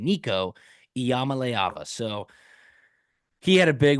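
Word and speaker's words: Iamaleava: leava there you go that is how you pronounce Polynesian Payton's last name Nico Yama leava so he had a big one Tennessee 69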